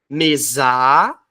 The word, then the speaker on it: mesa: vai gritar assim ó mesar ou tu vai gritar mesa óbvio que tu vai